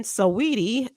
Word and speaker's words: Saweetie: Apparently, he weighed in on Twitter when Saweetie noted that she's ready to have children.